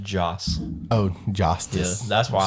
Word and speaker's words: Joss: He's Joss the same. Whedon? Josh Whedon. He's the, one same that's guy. Not Who Joss. It's just Joss.